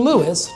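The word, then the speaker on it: Lewes: more palatable name, and we've been Lewis, two syllables, ever since.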